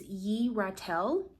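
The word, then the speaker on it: Yeratel: So the way you pronounce this angel's name is ye ratel.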